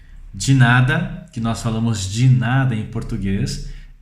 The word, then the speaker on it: de nada: De nada, que nós falamos de nada em português, em espanhol a forma correta de se pronunciar é de nada, de nada. Então nós temos que falar as vogais todas bem pronunciadas de uma forma correta.